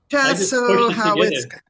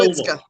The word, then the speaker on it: Chassahowitzka: He will take us on a special tour of Chassahowitzka. Did I pronounce that correctly? Yeah, I just pushed it Chassahowitzka. That's every syllable. Chassahowitzka.